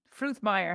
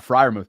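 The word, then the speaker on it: Freiermuth: weekend wasn't it um Fruth Meer how do you say his name oh it's Pat friou what an unbel like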